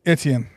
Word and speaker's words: Etienne: It's Etienne.